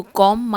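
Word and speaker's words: comb: ऑन इसे पहनना तो कॉम मी हेयर यहां पे बी साइलेंट होगा और दें आई हैव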